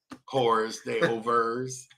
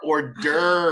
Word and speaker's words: hors d'oeuvres: But I like Sorry, I said, I love saying it like most Americans would say it when they see how it's spelled. Whores, they overs. I'm like, they are not a whore's ovaries. They are hors d'oeuvres.